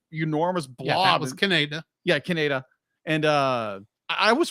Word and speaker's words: Kaneda: They like he's or as I still pronounce it every time I see it, Canada. It's fair. He'll be like he's morphing into that enormous blob. Yeah, that was Kaneda.